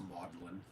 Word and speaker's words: Magdalen: Lewis, professor of ancient mythology at Oxford, sub-college of Oxford, called Magdalen, pronounced Magdalen.